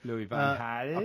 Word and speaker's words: Louis van Gaal: Meanwhile, let us talk about Louis van Gaal once more. let's By do the that. way, the definitive version of his name, Louis van Gaal.